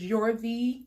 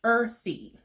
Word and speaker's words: Earthy: I thought it was Yorthy. It's pronounced earthy.